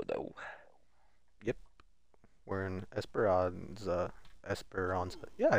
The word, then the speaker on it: Esperanza: Esperanza.